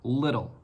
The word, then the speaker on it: little: The easiest way that you can remember how to pronounce this word is with the word brittle, okay? So little and brittle, they're very similar in pronunciation.